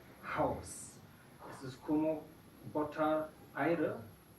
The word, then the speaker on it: Haus: En estos casos no se escucha, pero en la mayoría de los casos, cuando una sílaba empieza con la H, entonces se escucha, como Hose, Hund, Haus.